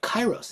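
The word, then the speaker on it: kairos: to call it um but chyros and it's spelled different it's k a i r oos but I just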